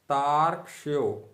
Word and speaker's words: तार्क्ष्यो: तार्क्ष्यो, तार्क्ष्यो। ध्यान दीजिएगा, यो में जो रेफ लगा हुआ है उसका उच्चारण अर्थात आधे रा का उच्चारण ता के बाद ही कर दिया जाएगा।